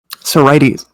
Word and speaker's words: sorites: How do you pronounce it? Sorites.